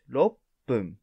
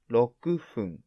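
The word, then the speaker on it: 六分: type 6 is log but 6 minutes is low boom not low kufung this is turkey one how to pronounce 6 is different and it's pun type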